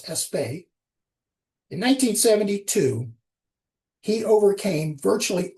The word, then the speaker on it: Aspect: In 1982, Allan Espay frequently people pronounce his name as Asp aspect but I believe he's French I think it's Espay.